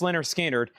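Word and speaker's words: Lynyrd Skynyrd: Leonard Skard pronounced Leonard Skard.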